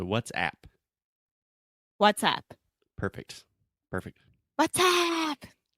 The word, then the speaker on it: WhatsApp: say uh uh what's and then app that is a very open a sound where it's just the same sound as like apple cat hat disaster master and a lot of students want to say what's IP like e like bed red but it's more open so what's app WhatsApp perfect perfect what's